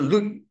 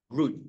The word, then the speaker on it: rude: 不是 lude 是 LUD rude 就是粗鲁，把古人把路念成粗鲁。哎，This is my grandfather